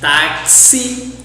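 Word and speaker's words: táxi: also we have some exceptions like taxi fluxo we pronounce as like English fixer orthodoxo flexible yes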